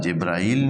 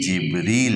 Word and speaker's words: جبریل: برابر کیا جاتا ہے، لیکن قرآن میں اس کے تلفظ مختلف ہیں۔ یہاں جبرائیل نہیں ہے، ہاں، جیسے ہمارے ہاں دونوں کا جبرائیل میکائیل، یعنی برابر ایک قسم کا تلفظ کیا جاتا ہے، لیکن یہاں قرآن میں اب تیسری بار یہ لفظ آ رہا ہے تو یہاں جناب جبریل کے لیے جبریل ہے، جبرائیل نہیں ہے، جبریل و میکالا،